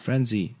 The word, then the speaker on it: Franze: how do you know how do you pronounce that is that france or franzi how are you yes sir frenzy okay so nice meeting